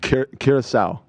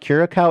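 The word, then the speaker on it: Curaçao: you say the name of this country again curacao curacao thank you thank you curacao excludes the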